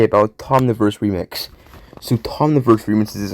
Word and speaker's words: Thomniverse: certainly not English and I would always say his name like wait no I mean what I mean he's certainly not English and turns out it's like Tomverse which makes me wonder